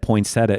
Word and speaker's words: poinsettia: We now understand that poinsettia is said this way with 4 syllables instead of 3.